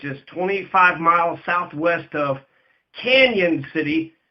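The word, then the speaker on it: Cañon City: 25 miles southwest of Canon City. It's C-A-N with a tilde over the N-O-N. So it looks like Cannon, but it's pronounced Canon City.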